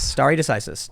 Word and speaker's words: stare decisis: Can you pronounce that? Stare decisis. Stare decisis.